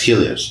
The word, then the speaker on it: Helios: Um and then behind where your picture's being taken, you have the new grand is it Helios? Is that how it's pronounced? Uh yes. Helios.